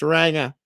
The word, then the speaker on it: ranga: okay it's not ranga just so you don't mispronounce it properly um it's ranga ranga that means aangan oh it's a it's